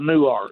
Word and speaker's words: Newark: It's not Newark. New Nerk is in New Jersey. Well, I know, but that's what uh the Garrett put on the phone screening thing. Well, that's way you that's way you spell it, but I live in Texas, so it's called New Art.